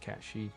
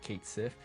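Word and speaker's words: Cait Sith: she which I just found out is actually pronounced cashi not Kate Sif yeah cat she is gonna also be a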